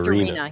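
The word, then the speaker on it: Dureena: I mean, now I'm going to get the character's name wrong, but Thief Girl, is it like Doreen or Dorina. It's Dorina, yeah.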